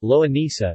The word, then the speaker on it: longaniza: Longaniza, Spanish pronunciation, loa ni theta, or American Spanish, loa nisa, is a Spanish sausage, embutido, similar to a chorizo and also closely associated with the Portuguese linguiça.